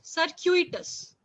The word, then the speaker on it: circuitous: very simple word but pronunciation is a little different try to pronounce this sir cute yes yes very very similar sir Q eaters circuitous right so there is an alphabet Q right and E so sir Q circuitous yes correct so circuitous